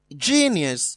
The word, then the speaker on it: genius: From what is given to me, genius is stressed on the first syllable, enthroned is stressed on